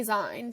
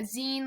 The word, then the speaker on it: zine: I yeah it is it's like uh Zine like the end of magazine um and um and